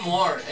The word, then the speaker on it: more: recién lleg la canción More more está mal se pronuncia mor en inglés es mor no es more la confusión no saben